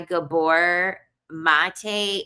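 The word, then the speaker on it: Gabor Maté: I read this book by Gabbor Mate. It's spelled he the it's spelled G A B O R M A T E.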